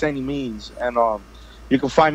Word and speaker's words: Annimeanz: on my social media is a and it's pronounced any means because I know any a lot of necessary exactly I know a lot of people when they get the pronunciation wrong but it's any means and all you can find me on all